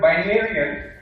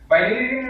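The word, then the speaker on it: Binaryen: Now, a fun fact here for the Game of Thrones lovers, Binarian is actually supposed to rhyme with Targaryen.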